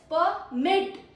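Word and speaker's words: permit: Pronunciation two इज़ परमिट।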